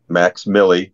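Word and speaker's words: Mvxmilli: i l l i his SoundCloud channel is Max Milly that's how it's you how you pronounce his name but it's spelled mvx Mi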